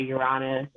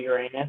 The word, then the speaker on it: Uranus: Like some people say Uranus, some people say Uranus, so I'm just convinced like both ways are right.